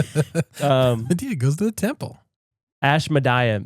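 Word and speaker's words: Ashmedai: Ash Madia. That's probably how you say it.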